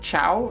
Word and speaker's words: ciao: them all ciao oh is it said ciao in italy but it's spelled c-i-a-o ciao all right we got